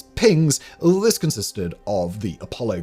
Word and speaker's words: PGNCS: control system or PGNCS pronounced by flight controllers and astronauts light as pings.